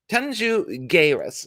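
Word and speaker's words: Tanxugueiras: chat by the way tanju guerras tanju guerres is how you pronounce it jairus i don't speak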